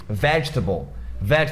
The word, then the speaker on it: vegetable: É a mesma coisa de vegetable, vegetal. O pessoal vê a palavra table ali no final e tá louco pra falar vegetable. Só que é vegetable, chocolate.